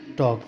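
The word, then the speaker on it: talk: गलत हो जाएगा इसको टलक नहीं पढ़के क्या पढ़ेंगे टॉक पढ़ेंगे टी ए एल के लिखेंगे टी ए एल के लेकिन इसका प्रोनंसिएशन क्या होगा टॉक होगा ए एल एम ओ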